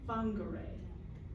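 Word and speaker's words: Whangārei: you get into the the w pronounced as F fonger fonger this was a report where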